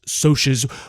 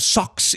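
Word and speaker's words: Socs: preppy kids known as socios, which is pronounced that way instead of socks.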